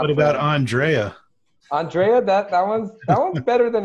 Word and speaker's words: Andrei: And you do pronounce it Andrei, right? It's actually Andre. On top of the world, Dre. Yeah, that's what I was. People say Andre. The only thing that's not acceptable is Andrew.